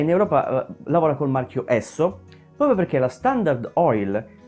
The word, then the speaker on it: Esso: europa lavora col marchio esso proprio perché la standard oil la primissima compagnia petrolifera mai esistita aveva come primo s o che in inglese si pronuncia esso o all'epoca nelle famosissime